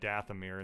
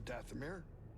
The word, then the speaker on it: Dathomir: ship on zepho probably we're gonna head to Dathomir instead of side-quests just FYI travel to planets I guess we could go to Dathomir the madman kal theory of geopolitical politics only